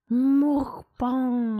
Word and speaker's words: mukbang: Mukbang. I reckon CJ would be a hell of a mukbanger. Can we do the pronunciation?